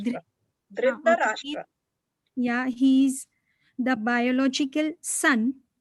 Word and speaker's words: Dhritarashtra: So you told that Dhritarashtra, what how to pronounce Dhritarashtra. okay. Dhritarashtra.